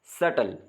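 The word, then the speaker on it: subtle: नम B silent है सटल तो इसमें भी बी साइलेंट है सटल कहते हैं अर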